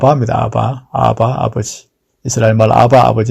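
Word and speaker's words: Abba: 즉 아버지 란 말이 헬라 말로 앞 합니다 아바 아바 v3 할말 아바 아버지 인데 아빠가 좀 강하게 발음하면 아빠가 됩니다 하나님을 향하여 아버지라는 고별 할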